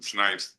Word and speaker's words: Snipes: I'm Snipes. S N I PS like Duke Ellington and Wesley Snipes. Um do you have any comments, Mr. Snipes?